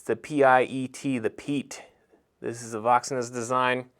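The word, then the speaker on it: Piet: going into the crkts this one is the pete i pronounced it wrong in another video i said the the pia you can see it's the p-i-e-t the peat this is the voxeness design has been absolutely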